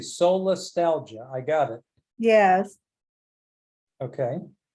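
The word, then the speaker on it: solastalgia: totally resonated with me but um can you spell that word for me yeah or say it slowly I say soul Nostalgia I got it yes okay do you want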